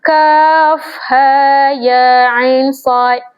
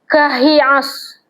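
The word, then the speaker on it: كهيعص: Kalimah kaf ha ya ain sad. Dalam surah Maryam kan dalam kes ni kita tak boleh baca kahias tak boleh bacanya adalah kita mengeja huruf ni satu-satu contoh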